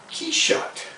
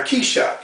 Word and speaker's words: Quichotte: Quichotte is like a French pronunciation of Quixote.